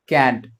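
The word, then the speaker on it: can't: नॉट क्या हो जाएगा, कैंट। इसको क्या पढ़ते हैं, कैंट। कुछ पढ़ते हैं इसको कांट भी पढ़ते हैं, बट एग्जैक्ट प्रोनाउंसिएशन अगर आप देखेंगे तो दैट वुड बी कैंट।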